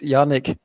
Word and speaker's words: Yanik: been very curious uh what is the proper pronunciation of your name it's yanic y yes Yanik we are so happy to